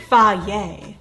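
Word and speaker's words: Fage: going to be using fagi it says it's pronounced fah yay i'm going to be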